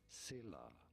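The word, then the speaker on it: Scylla: foreign very clear how do you go about pronouncing this one Sila Sila pretty straightforward once you know Sila here are more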